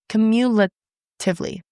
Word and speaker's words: cumulatively: Cumulatively. I always want to add an extra syllable for that word.